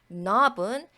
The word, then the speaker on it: knob: knob은 K 요 부분이 묵음이죠.